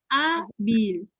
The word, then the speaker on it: Hábil: Hábil. En la A. En la A, última, penúltima sílaba. Si es penúltima, es palabra grave, grave.